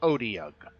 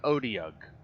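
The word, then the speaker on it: otyugh: guys what is it i guess it's pronounced odi um it's called an odeok uh and it looks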